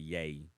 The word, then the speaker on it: Ye: as Kanye West because he changed his name to yay that's how you say it right yay I guess